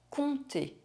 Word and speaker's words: compter: Compter. 7. Un fils. Un rond-point. Une sculpture. Guys, if you struggle to pronounce the French R, you can check out this video next.